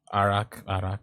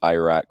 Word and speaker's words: arak: Arak, yeah, Arak. Something like that. Yeah. Yeah, one of your American friends, one of our American friends kept pronouncing it Iraq whenever he ordered it. Yeah, please stop doing that.